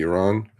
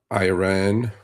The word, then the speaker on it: Iran: air campaign um in the Middle East, specifically Iran. And uh so folks for most of you who listen to the news media it is not Iran it is Iran it is not Iraq it's